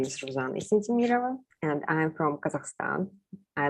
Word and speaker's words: Yessentemirova: When I've been to America, they just called my last name just Yes, because it starts with yes, and they even wrote it down like Ruzanna Yes. So I pronounce it Yessentemirova.